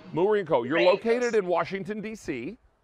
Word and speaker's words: Moorenko: on your show especially a thrill now i pronounced it moo rinko because i was doing a little play on words with the cow there but that's in it so is that is that correct is it mourinko it's murenco mureenco you're located in washington dc